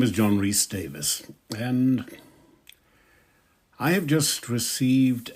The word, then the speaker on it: Davies: my name which is spelled Davies but pronounced Davis what an interesting pair